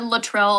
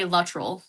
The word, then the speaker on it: Luttrell: It's it it does get said Latril a lot and it's absolutely okay, but we say Latril. That's that's how pronounced it.